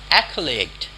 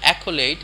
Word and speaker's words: accolade: understand his logic is abstruse to me that's Accolade Accolade means an award or an honor Accolade Accolade so so most of the people can go accolate it accolate accolate so you want to make